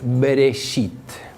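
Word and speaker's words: בראשית: primera palabra del génesis cuya pronunciación en hebreo es bereshit y que está traducido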